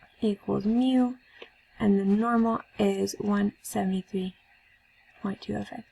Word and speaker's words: mu: friction equals 150 = mu and the normal is 17325 s people say me they say it like moo like what a cow says there's a lot of